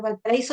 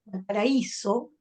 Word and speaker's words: Valparaíso: todo sea para cualquier por ejemplo Valparaíso la palabra Valparaíso en Chile Valparaíso y acentuamos la vocal la voz perdón y la vocal débil la vocal es débiles